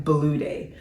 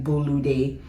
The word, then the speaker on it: Bolude: put a pause here so I pronounced my name back then blue day very American but I've worked hard on pronouncing it because again journey of identity pronouncing it the way eura people say it and they may not you know they may not be right but now I say I pronounce my name bulu day which is closer to